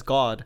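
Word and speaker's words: 갓: that just came out so kat is like just but also kat is like pronounced as god so it's like i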